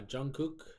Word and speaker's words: Jungkook: gosh so sorry uh Jungkook I believe is how you pronounce that hey you got it right yeah I'm saying it